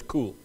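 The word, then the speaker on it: כּוּל: The word there in the Hebrew language for abide is, we would spell it in the English language, K-U-W-L. Closest pronunciation I can give is cool. That's cool. I'm sure it's a little more Hebraic with it.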